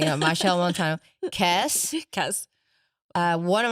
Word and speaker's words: Machel Montano: Machel Montano. Okay, cuz in my head I would say Matel or something. Machel Montano, Kes Kes uh, one of my favorites Bunji Bunji Garlin uh, Nailah Blackman Yes.